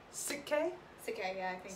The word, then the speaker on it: Sik-K: We are reacting to, I might pronounce this wrong, Sik-K? Sik-K, yeah, I think Sik-K.